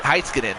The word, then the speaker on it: Heinen: Oh heis Oh that's oh that's how you pronounce it Heinen I didn't know although gathered up tried